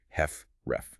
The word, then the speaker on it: HFrEF: First, there's systolic heart failure, which is now more precisely called heart failure with reduced ejection fraction or HFREF, pronounced heft ref. Reduced EF.